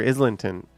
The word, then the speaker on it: Islington: you know what's funny I hear some people saying like Islington like they don't pronounce the G I like I literally hear Islington a lot which is weird but you also always hear Eglinton where there is no G like they drop this G but they stick a